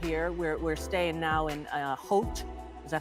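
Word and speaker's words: Howth: we're staying now in Hote. Is that how I say it? Hote. Hote. Yeah, I've been calling people in America going, I'm in my house in house. But that's not how you say it.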